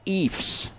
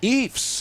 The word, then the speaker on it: Ephs: No, it's the Ephs. Ephs? Rhymes with Chiefs.